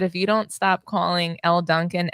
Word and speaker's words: Elle Duncan: All I know is that if you don't stop calling Elle Duncan Ella Duncan, I'm gonna lose it.